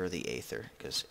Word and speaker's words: Aether: they call it the ether or the Aether because ather Aether is how the mod makers pronounce it but ether is how the word is pronounced but I digress farlands